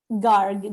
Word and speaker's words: Garg: find zarna at zarnagar how do you say your last name garg g-a-r that's what i thought i just wanted to